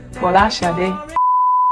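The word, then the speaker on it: Folasade: Or the true Nigerian pronunciation, or as close as I can get to it, is Fola Sade.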